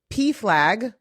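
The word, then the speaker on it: PFLAG: the other one is the P flag. I'm I'm guessing that's how you say it. Yes.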